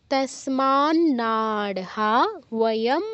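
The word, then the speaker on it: তস্মান্নার্হা: পড়ি 36 কি আছে তসমান নারহাম হান্তুম ধারত রাষ্ট্রান সবান্ধবান স্বজন হিথম হত সুখিনাম মাধব তসমান নারহা তসমান নারহা দুটো ন আছে এর পর একটা ন উচ্চারণ করতে হবে নারহা আলাদা তাসমান নারহা না স্মাতে নাতে হাতে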